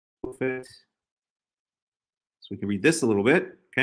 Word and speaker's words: Tophet: Right, but referring to this place, this Tophet, right?